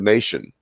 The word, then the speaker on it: nation: I said, well, look at the word nation. Why do you pronounce the T as an SH?